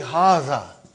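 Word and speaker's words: هذا: See, it is pronounced like Haza. But this alif is not written. It is explained in the key also.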